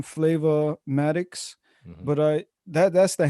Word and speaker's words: Flava Matikz: that that's the handle flavo matic straight right f-l-a-v-a-m-a-t-i-k-z but the way i spell it is like kind of two names so flavor is the first name is the second name so sometimes you may